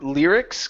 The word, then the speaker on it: lyrics: go to the word lyrics give me a good R here instead of Ls it's lyrics lyrics lyrics great very good